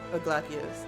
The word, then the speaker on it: Glacies: Glacius, that's how it's pronounced.